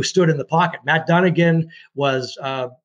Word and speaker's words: Dunnigan: And Matt Dunnigan did say that.